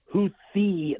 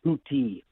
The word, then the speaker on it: Houthi: It is pronounced Houthi, not Houthi.